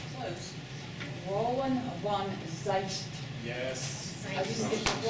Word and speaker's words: Roeland van Zeijst: Is it Roeland Van Zeijst or something? Not quite now. It's an American who's trying to be phonetically close. Roeland van Zeijst.